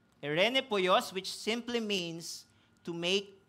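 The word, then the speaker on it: εἰρηνοποιός: hindi but according to my study This is pronounced as Irene poyos Irene poyos which simply means to make peace binalikan lang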